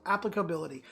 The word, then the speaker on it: applicability: pronounce it applicability applicability pronounced on the first syllable so applicability Chuck I think I'm